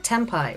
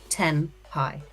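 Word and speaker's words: tenpai: it's the same with tempai right if you have an N you spell it t e n p a i inevitably you hear people saying 10 pie and you're like 10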